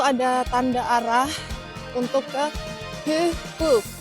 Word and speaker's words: Hyhky: Jadi Hyhky itu nulisnya kayak gitu tuh. Yang Hyhkyn, kalau kita bahasa Indonesia bacanya Hihkin. pakai y itu dibacanya y. Jadi nama kotanya Hyhky. Hyhky Paikpakoti itu artinya adalah deker di daerah Hyhky. Jadi bahasa Finlandia itu emang berbeda. Kalau huruf y dibacanya y.